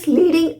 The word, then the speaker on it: lead: किया जाता है ही लीडिंग अस वो हमारा नेतृत्व कर रहे हैं सो लीड लीड मतलब नेतृत्व करना पर एल ई ए डी इसे हम लेड भी प्रोनाउंस करते हैं लेड इसका यूज उस